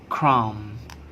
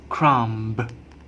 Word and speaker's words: crumb: This we pronounce it crumb, crumb. We don't pronounce crumb.